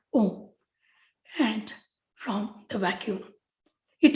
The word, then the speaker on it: om: chakras gurudev writes that om is pronounced as a u and ma prolonging of the individual sounds contained in um these three letters